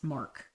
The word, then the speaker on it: Marquis: Letters of Marquis. That's Mark. Marquis. Marquis is spelled Q-U-I-S.